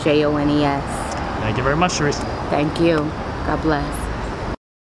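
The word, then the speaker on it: Charisse: I'm Sharice Jones. Can you spell it first? Spell the first? Both names, yeah. Sharice, C-H-A-R-I-S-S-E, Jones, J-O-N-E-S. Thank you very much, Sharice.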